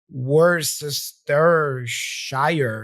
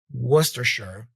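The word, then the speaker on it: Worcestershire: because I didn't know I was going like wor Shire something like that you know wor Shire which is completely wrong yeah very different from westers sure westers sure all right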